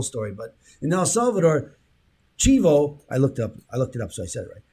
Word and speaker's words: chivo: read this whole story but in el salvador chivo i looked up i looked it up so